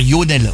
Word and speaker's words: Lionel: Comme dans le nord on dit toujours Yonel. On dit jamais Lonel. On prononce pas le L. On dit Yonel.